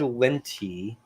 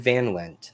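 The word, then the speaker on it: Van Lente: This is Fred Linty, Fred Van Lent. I said his name wrong.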